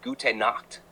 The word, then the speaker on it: gute Nacht: Good night is gute Nacht, pronunciation gute Nacht.